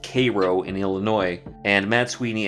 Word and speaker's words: Cairo: Nancy head to what we find out later is Cairo Illinois and yes it is pronounced Cairo in Illinois and Matt Sweeney and Laura head